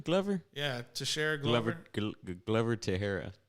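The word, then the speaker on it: Teixeira: is he fighting glover yeah to share glover tahara tashira to shara that's what it is oh i thought joshera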